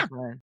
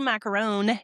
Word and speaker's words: macaron: No, it okay, America. No, it's not. It's called a macaron. If you were going to be really North American, you could just say macaron. Don't try to roll your R's.